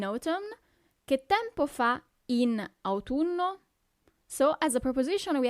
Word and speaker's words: autunno: So you really have to pronunciate those U's, okay? Autunno.